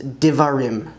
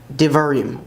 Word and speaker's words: דברים: And Deuteronomy is Divarim, Divarim, words.